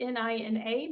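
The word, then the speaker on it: GNINA: Um but Nenina, it's spelled G N I N A, but it's pronounced Nina with a silent G.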